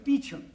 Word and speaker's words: Beauchamp: Call him Mr. Beauchamp. Calling Mr. Beauchamp. Mr. Beauchamp has been employed by the following firm. It's pronounced Beecham.